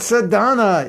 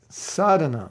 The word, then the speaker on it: sadhana: So they don't say sadhana, which has a long A in the beginning. They say sadhana. I had some bad sadhana today. I'm like, it's not sadhana, it's sadhana.